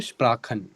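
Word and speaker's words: Sprachen: चीज याद रखनी है जब भी सी एच से पहले आपके पास ए होगा ओ होगा और यू होगा तो इट विल साउंड लाइक ख ख और अगर स्प्रे उसके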